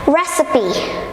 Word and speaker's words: recipe: my friends number 7 recipe recipe recipe not recite its recipe recipe so usually in English we don't pronounce the e at the end but this what we have to pronounce it so this recipe recipe